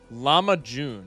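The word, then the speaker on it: lahmacun: Llama June is how you're is how you pronounced it is how you pronounce it.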